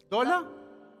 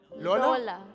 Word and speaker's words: Lola: Dola? Lola. Dola. Lola.